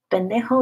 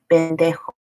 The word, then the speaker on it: pendejo: Pendejo is probably the least offensive of these P words.